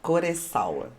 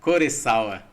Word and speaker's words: Koressawa: É isso a pronúncia? Kurosawa. Kurosawa.